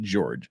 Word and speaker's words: Jorge: I really hope George I keep want to call him Jorge because it's spelled Jorge but they all pronounce it George I really hope George